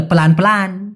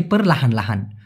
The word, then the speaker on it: perlahan lahan: বলা হয় perlahan lahan, অনেকে বলে প্ল্যান প্ল্যান, মানে এই perlahan লাহানটাকেই সিম্পলি শর্টকাটে perlahan lahan ওরকম না বলে প্ল্যান প্ল্যান। ওকে, বলতে পারেন, কোনো সমস্যা নাই, তবে সঠিক উচ্চারণটা হচ্ছে perlahan lahan।